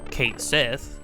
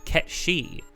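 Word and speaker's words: Cait Sith: no okay it's obviously it's obviously pronounced Kate Sith right like that's what it looks like um and then a bunch of people are like well no it's it's from this uh it's actually GIC it's like a gaic fairy tale so it's actually not pronounced uh Kate Sith it would actually be pronounced cat she and everybody's like that's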